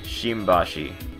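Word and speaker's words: 新橋: be a combination why they do stuff like shinbashi shimbashi shimbashi shimbashi you mean the that's just uh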